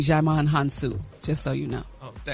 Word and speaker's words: Djimon Hounsou: Gary, you pronounce his name Djimon Hounsou, just so you know.